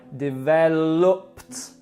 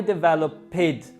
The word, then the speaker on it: developed: You force the sound of a T on the end. For example, I developed with a T, and not I developed.